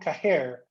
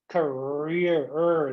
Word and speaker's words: career: That's not career. Career. The R sound.